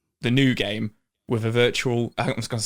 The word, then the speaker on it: Virtua: you essentially play the new game with a virtual i was going to say it wrong again